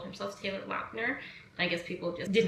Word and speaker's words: Lautner: It is technically Lautner. So you can see like all the interviews, he's always like called himself Taylor Lautner.